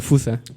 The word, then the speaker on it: fosa: curioso los malgaches y la palabra es fosa O sea que se pronuncia como fusa Qué te parece si